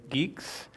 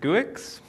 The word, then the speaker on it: Guix: crush on good new geeks I'll start off with it's kind of awkward calling it good new geeks especially when you're talking about crushes but it for the longest time pronounced it goo --ax it's a bit awkward